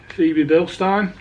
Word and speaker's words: Febi Bilstein: but I think Nicole I think it's pronounced CV build star that's what I've gone